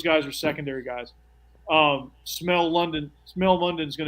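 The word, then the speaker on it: Smael: one of the senses well it's not spelled that way but it's pronounced that way yeah is it like smoke is it related to smoke Mundy he might be uh it's uh s-m-a-e-l smell Munden London okay oh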